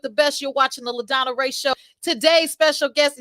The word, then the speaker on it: LaDonna: And then we got La. Lady. No. Hey, let me pronounce the name before she spazzes out. Okay. LaDonna.